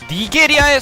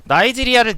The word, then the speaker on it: 나이지리아: 만들어 놓으면 어떡하냐 뭐야 니게리아의 수도는 도쿄는 일본이잖아 그러니까 아 부자 부자 어떻게 외워야 돼 어떻게 외워야 돼 아 니겔이야가 아니라 됐어 나이지리아를 니게리아라고 읽는 무식함이라고 하시는데 제가 봤을 때 여기